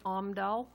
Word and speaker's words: Omdal: The next motion should be to approve a loan to Frosty's Donuts LLC and Nels and Shelby Omdal, that's how you pronounce it, in the amount of $100,000 with